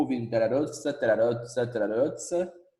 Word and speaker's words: terra rossa: vermelhinha, eles chamaram esse tipo de solo de terra rossa. Vamos lá, pronúncia.